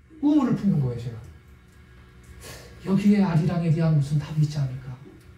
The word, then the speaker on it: 아리랑: 여기에 아리랑에 대한 무슨 답이 있지 않을까? 그렇게 고민을 하고 있는데 이게 문법적인 이유가 있는 거구나. 원 가사는 알리랑이구나. 알리랑 아라리오라 연음 법칙 때문에 아리랑 아라리오라고 발음을 하게 된 거구나.